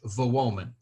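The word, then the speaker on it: Wołomin: as you may know the W in Polish is pronounced like the English V while the L with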